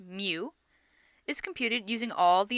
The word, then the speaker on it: mu: population arithmetic mean which we use this character pronounced mu is computed using all the individuals in a